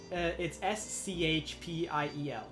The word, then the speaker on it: spiel: It's SCHPIEL. Okay, so I did pronounce That's it.